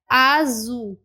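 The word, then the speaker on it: azul: तो चलिए अब एक एक करके इनकी प्रोनाउंसिएशन को देख लेते हैं। तो फर्स्ट है आजू, आजू, आजू मीन्स ब्लू।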